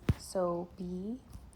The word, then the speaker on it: Sobie: for the fact that it's so B, but it's spelled so o i e. And it's fitting for me because my motto is so be it.